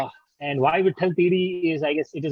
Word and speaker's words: Teedi: Where Ikko Dudi Tiri is how you pronounce in Gujarati.